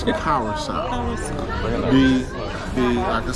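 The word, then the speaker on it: Curaçao: Not Curacao. It's Curacao.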